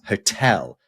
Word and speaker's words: hotel: But if we, for example, hotel, right? That's hotel. Emphasis stress on the second syllable.